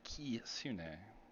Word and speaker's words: kitsune: Kitsune. Have to say it right, not kit. Kitsune.